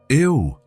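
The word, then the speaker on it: eau: Ew, Elena said. It looks strange, doesn't it? It's spelled E-A-U, but pronounced O.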